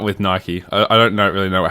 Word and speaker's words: Nike: yeah go do it Nike Americans say I hear people say Mike yeah Australia Mike but it's Nike yeah I'd say Nike